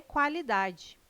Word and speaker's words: qualidade: O QU não é dígrafo, não é pronunciado com um som único. O quá traz um ditongo, dois sons UA.